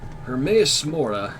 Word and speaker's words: Hermaeus Mora: Hermaeus Mora. Alright, I'll remember that. Yes, more. Hermaeus Mora is just explaining how to pronounce his name.